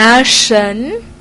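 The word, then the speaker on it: 什: ดิน ยัง ไง นะ ตัว พยัญชนะ SH เสียง ชึ ชึ สระ เอิน เอิน นะ เฉิน เฉิน นะ แล้ว ก็ เมะ เฉิน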